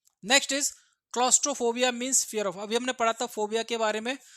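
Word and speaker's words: claustrophobia: क्लॉस्ट्रोफोबिया को pronounce कीजिए, कैसा लग रहा है, क्लोज लग रहा है नहीं लग रहा?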